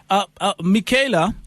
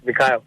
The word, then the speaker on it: Mikhail: Michaela, now I know that. Sorry, Mikhail. Is it Mikhail, right? It's Mikhail. Oh, Mikhail. Sorry, Mikhail. Sorry to pronouncing your name wrong there.